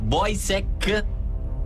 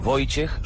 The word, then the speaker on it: Wojciech: così il portiere attuale della Juventus si chiama voek szczesny No no non è sentiamo un riscontro wojciech wojciech szs Sens Questa è la pronuncia Pol